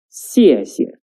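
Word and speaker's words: 谢谢: That is, 谢谢, 谢谢. The second 谢 is a neutral tone, which is short and light.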